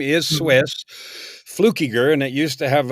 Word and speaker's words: Fluckiger: That was long since dropped, Fluckiger, and so I'm just blown away that you said it right. Key, like I do the flu, right. Key, Ger when I teach people how to say it, Fluckiger.